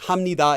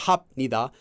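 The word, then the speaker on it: 합니다: rules to pronounce it like hamnida is not hap Nida but once you just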